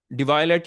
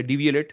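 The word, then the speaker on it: Devialet: HDMI ports भी ज्यादा है, बेटर ट्यून साउंड है, डिवायलेट या डीवीएलएट जैसे भी आप प्रोनाउंस करना चाहें।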